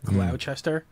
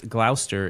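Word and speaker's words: Gloucester: a glower gler glower it's like Glouchester yeah gluster but it's Glouchester yeah if you were to just read it and like think you can pronounce English things there's a cheese a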